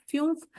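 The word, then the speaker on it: fünf: 5 इज FUNF, फ्यूफ।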